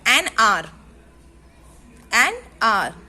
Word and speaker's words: hour: Because H is silent. Okay. H has no sound. So R. So it is correct. An R.